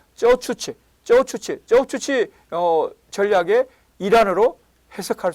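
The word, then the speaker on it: 走出去: 선진화를 단기에 달성하려는 레노버의 이거 중국 한자를 우리식으로 발음하면 주출거인데요. 중국 발음 발음은 쩌추치 전략의 일환으로 해석할 수 있습니다.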